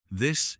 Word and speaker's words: this: This has a short sound. This. There sounds like there. Yes, this rhymes with miss. There sounds like air with a th at the beginning.